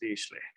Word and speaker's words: Dirichlet: I don't even know how to spell it, but I know it's pronounced Dirichlet.